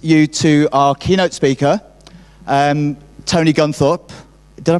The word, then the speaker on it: Tony Guntharp: I'm now going to introduce you to our keynote speaker, Tony Guntharp. Did I pronounce that right?